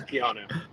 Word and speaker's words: Keanu: No, it's pronounced like the actor. It's Keanu.